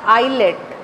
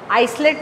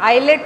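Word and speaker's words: islet: वो अलग जो दिखने वाली उसको नाम दे दिया आइलेट। आइसलेट नहीं बोलेंगे, एस साइलेंट होता है, आइलेट ऑफ लैंगरहैन।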